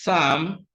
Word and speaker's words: psalm: the word giving is Psalm p-s-a-l-m but then when P comes before s p is silent and the sound we have is s sound number 12 is choir